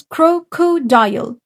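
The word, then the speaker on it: crocodile: هانت تعالوا نحفظ كروكودايل كرو كودايل هنا في ماجيك اي قالت لي الاي قولي اسمك اتنطقت زي اسمها بالظبط وهقسمها ثلاث مقاطع كرو عشان لقيت هنا في فاول وهنا فاول وهنا الاي فاول ولكن الاي في الاخر سايلنت مالهاش صوت كروكودايل كروكودايل يبقى الكلمات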